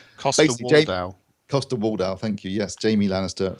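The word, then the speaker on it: Coster-Waldau: You've got Nicholas Walder Costo, I can't pronounce his name. Costa Waldau, thank you.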